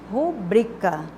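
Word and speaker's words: rubrica: sim ruim e Pública não é uma palavra proparoxítona é uma palavra paroxítona porque a sílaba tônica é a penúltima rubrika eu vou fazer minha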